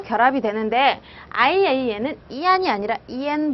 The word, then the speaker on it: ian: I랑 붙었을 때 안 발음이 나지 않고 N 발음이 나야 됩니다. N. 그래서 EN이라고 발음을 하셔야 돼요. EN.